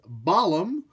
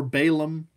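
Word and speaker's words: B'alam: of decay this is baalam you can pronounce his name baalam or Balaam I think it just kind of depends on where you are what kind of terminology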